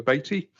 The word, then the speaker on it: Beattie: First of all, I'd like to welcome Councillor Beattie, as in Haiti.